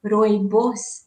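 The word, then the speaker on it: rooibos: I'm not mistaken but it's um pronounced Roy boss in South Africa and is actually um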